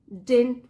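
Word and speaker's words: didn't: Were announced his project डिडंट विन। अब देखिए यहाँ पे 2 डी है, तो सेकंड वाला जो डी होता है उसको हम प्रोनाउंस नहीं करते, उच्चारण नहीं किया जाता उसका, तो क्या बना? डिडंट।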